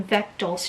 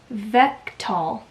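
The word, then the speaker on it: Vektal: she gets caught in Beck doll's trap at least that's how I'm pronouncing his name I wish she would oh she does she does have a pronunciation vectal yeah vectall oh my gosh I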